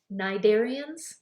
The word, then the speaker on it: cnidarians: the sponges the Knights cnidarians the C is silent and other organisms called